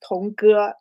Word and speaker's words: Tong Ge: My name um pronounced as Tongu.